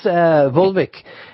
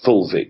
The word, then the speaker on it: fulvic: And what about, can this fulvic mineral be found in something natural that we can buy or get? Well, just to be clear, for the pronunciation, it's fulvic with an F.